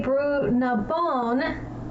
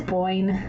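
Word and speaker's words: Boyne: And when I say Bown, it is Boyn.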